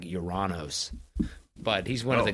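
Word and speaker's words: Ouranos: they had no idea I think the actual pronunciation isn't even Uranus I think it's act like uranos but he's one of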